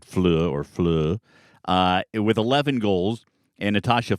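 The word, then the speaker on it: Fløe: And then Cecilia Fleu, it's F-L-O with a line through it and then an E. I believe I'm pronouncing it right, Fleu, with 11 goals.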